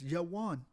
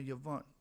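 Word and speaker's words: יון: Instead of Ion or I1, it's Yawan. And that's how you say it in the Hebraic tongue. Yawan or Yavan, which is the son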